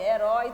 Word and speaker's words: herói: é a palavra herói herói também nas escrevendo iniciamos com H herói e vamos pra